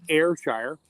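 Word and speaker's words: Ayrshire: other cow you mentioned airshire that's how you pronounce it airshire I had a customer for the company I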